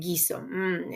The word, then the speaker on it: guiso: So again, the letter U, la letra U, is silent, but it's helping you to get the effect of the ga, ge, gi, go, gu sound. Okay, so now we can talk about our Unidad 2.